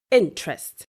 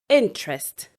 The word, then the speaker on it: interest: A common word that is usually stressed wrongly is interest. People would usually say interest, interested, interesting. No, it is actually interest, interested, interesting. So the stress is on the first syllable of the word.